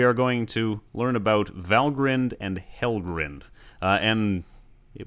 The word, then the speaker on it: Valgrind: going to learn about valgrind and he'll grinned and it would do well to pronounce them correctly the endings are pronounced grinned and not grind where do they take